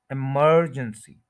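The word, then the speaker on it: emergency: करना क्या है कि जो एमई आर है इस पर स्ट्रेस करना है इमरजेंसी इमरजेंसी इमरजेंसी second syllable पर स्ट्रेस मर ज स इमरजेंसी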